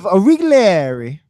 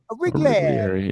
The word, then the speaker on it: Origlieri: It's Joseph Origlieri. Origlieri. Yeah, Jack did phonetically Mario.